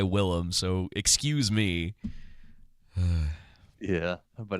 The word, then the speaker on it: Willem: I called William Dafoe last week, and someone was like, "Did you pronounce his name wrong?" It's just like, technically his name is William. Like, he just goes by Willem, so excuse me.